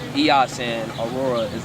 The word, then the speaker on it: Eos: Now her first name is like it's spelled like EOS, which is Eos, which is the goddess of dawn, and her last name